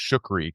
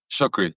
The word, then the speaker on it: Choucri: And your last name is pronounced Shukri, right? Shukri. That's right.